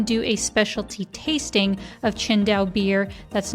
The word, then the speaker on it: Qingdao: Even though, if you just look at how it's spelled, it's Tsingtao, right?